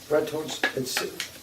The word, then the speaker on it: Bretholz: Bretholz, you pronounce it in 2 syllables.